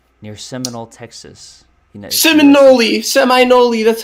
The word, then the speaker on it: Seminole: Seminole, that's how it's said.